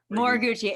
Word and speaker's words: Moriguchi: Did I pronounce that right? I should have asked you before. Yeah, that's perfect. Okay, Moriguchi.